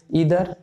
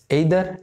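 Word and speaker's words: either: অনেকে কিন্তু American pronunciation আছে, দেখবেন ইদার, নিদার, এরকম এইদার, নেইদার, এভাবে। তো আমরা সাধারণত আইদার, নাইদার এভাবে বলি, বা নেইদারও বলে অনেকে।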